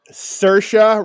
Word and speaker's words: Saoirse: And I know this because she did an interview and she said it sounds like inertia.